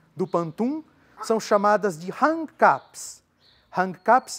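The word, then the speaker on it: rangkap: As estrofes do pantum são chamadas de hang caps.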